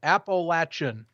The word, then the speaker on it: Appalachian: It is Appalachian State, right? Tell me if I'm right or wrong, because now I'm just... Appalachian is what I pronounce it I'm as. curious. I don't know. Maybe, well, this is different regions of the And world.